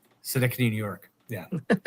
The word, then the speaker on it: Schenectady: Schenectady. Schenectady, New York.